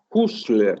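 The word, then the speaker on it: Husserl: jaspers no que se robó la idea de husler así es pero se escribe h s s e r l era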